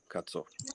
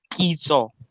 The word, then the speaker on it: Kitso: No, this is pronounced as Kitso. Oh, sorry. Keto. Yeah. Oh, sorry. It sounds like almost like keto, but with an S.